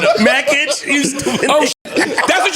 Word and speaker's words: Mackage: And what's the other one that's not a Mackage? You stupid. Oh, that's what you was saying. I got one of them. I was pronouncing. It's in Macaj, I say mackage.